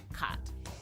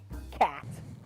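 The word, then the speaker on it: khat: While it goes by many names depending on who you ask, I'm talking about cat. Cat. Kidding. It's pronounced cot.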